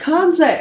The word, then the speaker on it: Kansei: Oh, it's Kansei! I said it wrong.